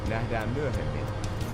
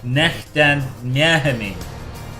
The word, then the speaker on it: Nähdään myöhemmin: Nähdään myöhemmin. Nähdään myöhemmin. Nähdään myöhemmin. Sounds a bit like mermaid in Dutch.